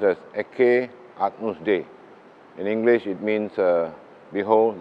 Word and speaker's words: Ecce Agnus Dei: And below this marble, the altar, you see the wordings there, is pronounced as Ecce Agnus Dei.